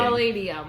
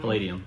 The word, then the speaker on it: Palladium: Palladium. Yes, there you go. Yes? I was like trying to say, you're like listening to the way I was enunciating. Palladium. Palladium.